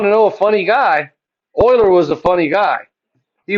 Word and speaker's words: Euler: number Oilers number Leonard Oiler Leonard Oiler it looks funny it looks funny because it's swiss but it's pronounced Oiler trust me everyone wants to say uler uler but it's Oiler